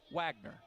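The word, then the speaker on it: Wegner: Wagner spells his name W-E-G-N-E-R, pronounces it Wagner with an A.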